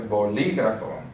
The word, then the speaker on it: bolígrafo: So since we have the accent on the I, we're going to say bolígrafo. That's where the stress syllable is going to be because the marked accent is telling us that.